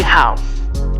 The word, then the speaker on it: halves: 2 halves, right? So the F sound is changed to V.